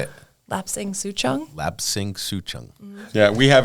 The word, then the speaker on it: Lapsang Souchong: Lapsang Souchong.